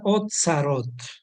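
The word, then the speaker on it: אוצרות: Tenemos una palabra hebrea que se pronuncia otzarot. Vamos a poner aquí. A esto se le llama otzarot.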